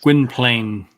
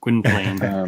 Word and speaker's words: Gwynplaine: Gwen, I can't pronounce. Gwynplaine. Yes, there you go. That's the way I say it. Gwynplaine.